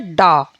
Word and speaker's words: ड़: तो इस तरह से जब हम बिना बिंदु यानी कि बिना नुक्ता के हम इस शब्द को यूज़ करते हैं, तो इसका जो उच्चारण है वो डा रूप में होता है, और जब हम नुक्ता सहित इस वर्ड को यूज़ करते हैं तो इसका उच्चारण अड़ा होता है, यानी कि ड़ा होता है।